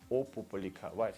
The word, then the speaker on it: опубликовать: The Moscow standard, standard European pronunciation, the European part of Russia, when people just say опубликовать, even though when you have to spell this word, it's of course an O. It's not A.